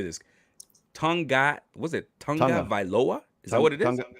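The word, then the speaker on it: Tagovailoa: Tonga Vailoa? Is that what it is? Tonga Vailoa. Yep. Tonga Vailoa.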